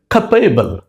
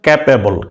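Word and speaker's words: capable: ওকে, একেবারে সাধারণ বাঙালি হিসেবে আমরা উচ্চারণ করি, এটা বলি ক্যাপ, সিএপি, ক্যাপ। এটাকে বলি এবল, এবল না, আসলে কথাটা এইবল, ঠিক আছে? তাই সেই হিসাবে কি হয়? ক্যাপেবল, ক্যাপেবল না, ক্যাপেবল না, কথাটা হচ্ছে খাপেবল, খাপেবল, সিএপি, খাপ, এভিএলই, এবল, খাপেবল।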